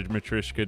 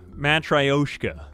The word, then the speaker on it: matryoshka: right let's try it am i saying it right or is it match ryshoka matryoshka no i think it's matrishka matryoshka it's like the name kaori versus kaori i've been playing a